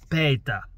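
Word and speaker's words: Péter: His actual name is spelt exactly the same as mine, but the front E, the first E, is that's got an accent, so you pronounce that E with an A. So it's Peter, which is, have to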